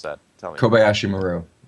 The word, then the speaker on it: KobayshiMaru: guy, and I try, but how do I pronounce that? Tell me. KobayshiMaru. KobayshiMaru.